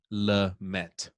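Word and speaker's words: Lamet: have denison lumet pictures is it lumet or lemay i say lumet let's check it out i think he'll be all right man the way that we pronounce it oh man d nelson la met okay um next trevor bauer is my number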